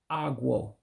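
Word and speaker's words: ọgwụ: On-yae Na-Eme A-Gwuh, one who sells medicine.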